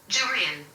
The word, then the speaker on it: Jurian: So I'm just curious, like, how is it pronounced? Jurian.